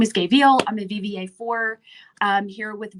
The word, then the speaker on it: Veale: It's the E on the end that throws everybody off. It is just veal, like the baby cow.